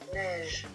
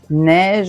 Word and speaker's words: neige: Neige. Neige. Attention, il s'écrit E i.